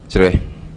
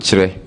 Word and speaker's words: Kyere: K Y E R E Kyereh We pronounce it I pronounce it Kyereh.